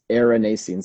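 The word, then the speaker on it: erinacines: aceranisins it's spelled e-r-i-n-a-c-i-n-e-s aranese like they were like the name aaron um that comes from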